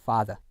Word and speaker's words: father: 예를 들어서 뭐 father 같은 경우, father. 그렇죠? 요것도는 R 사운드를 하지 않는단 말이에요.